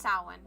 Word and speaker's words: Samhain: It's pronounced Samhain.